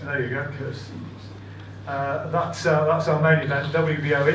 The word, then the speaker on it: Khurtsidze: We'll finish off with Tommy Langford and AVTANDIL Khurtsidze. I'm told that is the correct pronunciation. It should actually be Khurtsidze. Khurtsidze. There you go, Khurtsidze.